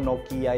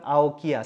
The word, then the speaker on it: Nokia: bentuk tulisan dari logo Nokia yang baru ini. Nah, ini pembahasan ini diangkat oleh Rakutav, yaitu salah satu tim desain logo di Yellow Studio di studioku. Kenapa kita berpikir untuk membacanya Nokia, bukan Aokia?